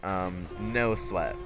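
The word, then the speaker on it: Know Sweat: But one of them was called No Sweat, which is spelled K-N-O-W and then Sweat. No Sweat.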